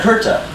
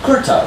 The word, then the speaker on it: kurta: So, Duri, Jodhpur, and Kurta both have an sound, and it's just spelled with a UR. So it's not like an ER or an IR, it's just UR. So, Kurta, right? K, not a C. UR. And then a ta.